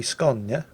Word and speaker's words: Skåne: The friendly Skåne, which apparently is the correct way to pronounce the name of the Swedish Tier 7